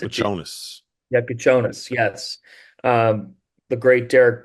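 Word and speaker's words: Kasparas Jakučionis: I got some pronunciations updated now, and it's Kasparis Yakuchonis. Yeah, It's a but Jonas. Yakuchonis, yes.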